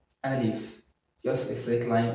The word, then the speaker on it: alif: Al very easy to write and easy to pronounce repeat after me alif alif just a straight line like one so it